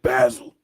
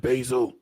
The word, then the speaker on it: basil: In some other countries, they pronounce it basil. But here in America, we pronounce it basil.